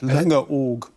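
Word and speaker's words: Langeoog: indeed just tell me did i get the pronunciation right linga org perfect good what does it mean it means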